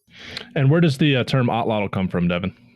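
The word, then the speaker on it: atlatl: If you make that sound by putting the tip of your tongue at the roof of your mouth and blowing air out around the sides of your tongue.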